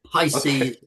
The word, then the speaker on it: Pisces: Yeah, Pisces. Did I pronounce it correctly James? Yeah, you did. Pisces as in the zodiac, the sign of the zodiac.